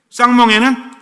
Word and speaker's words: 쌍멍에: 혼자 매는 멍에, 쌍멍에는 둘이. 그래서 멍에가 무슨 멍에다? 욕하지 말고. 무슨 멍에? 발음 잘하세요. 야가 아니라 쌍멍에야. 쌍멍에가 아니고.